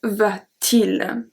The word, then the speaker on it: va-t-il: of words in French, we have to put a T in the middle to have a better pronunciation. Que va-t-il? So the T doesn't mean anything, it doesn't translate to anything, it's only there for pronunciation.